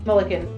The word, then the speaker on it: Mullikin: like to introduce is it mulligan milliken mulligan mulligan yes oh like like when you mess up involved yeah but with